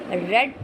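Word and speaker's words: read: तो इसको ऑब्जेक्ट कैसे ऑल the lessons should not बी रेड रीड का थर्ड फॉर्म यही रहेगा। बोलने में रेड आएगा लेकिन स्पेलिंग यही रहती है। रीड रेड रेड तो ऑल द लेसन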